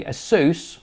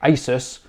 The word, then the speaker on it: Asus: Hi everyone, this is from Geekanoids, and in this video I'm going to talk to you about the Asus, or as I pronounce it, Asus VivoTab Smart.